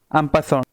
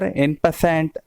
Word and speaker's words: en passant: मित्रांनो, याची स्पेलिंग जी बघाल तुम्ही इंग्रजीमध्ये, त्यावरून तुम्ही याचा उच्चार एन पॅसंट वगैरे असा कराल, पण हा फ्रेंच भाषेतून निर्माण झालेला शब्द आहे, त्यामुळे याचा उच्चार थोडा वेगळा होतो.